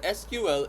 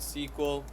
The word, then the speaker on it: SQL: So, what SQL is, we call it SQL, you call it sequel. Okay, you can also pronounce this as sequel.